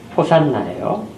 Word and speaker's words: 호산나: 호시아나라는 이제 본래 의미인데 이건 이제 히브리어입니다. 그런데 지금 헬라어로 이 성경을 기록하면서 그 부분만큼은 히브리어를 그대로 사용을 하고 있어요. 그래서 호시아나, 이것이 호산나 하고 지금 우리가 발음하게 된 것입니다.